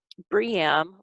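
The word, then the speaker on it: BREEAM: of green building practices briam or it's costing some people pronounce it bream i have never actually heard it pronounced but um it's it's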